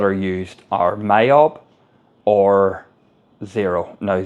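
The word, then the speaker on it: Xero: used are myob or zero now zero is is spelled x o instead of Z so it's x o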